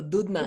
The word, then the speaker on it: Doudna: de apodo The Dude, porque así se por pronuncia el Doudna. apellido, Dudna.